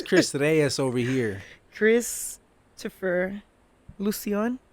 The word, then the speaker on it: Lucian: There Lucian. you go, the white way. Gotta use your Lucian every day. Yeah, I always thought it sounded like lotion.